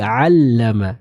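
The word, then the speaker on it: عَلَّمَ: terjadi pada ayat ini adalah membaca huruf ain dengan hamzah. Misal alladzi 'allama bil qalam. Mungkin kita pernah mendengar ya seorang baca seperti itu dan ini kurang tepat. Yang tepat adalah membacanya dengan huruf ain. Alladzi 'allama. Nah, jadi hati-hati ya. Bedakan antara suara dari huruf hamzah dan huruf ain.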